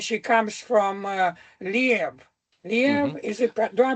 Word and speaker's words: Lviv: Liev, is it? Do I pronounce this correctly? We pronounce it Lvov or Lviv. Lviv.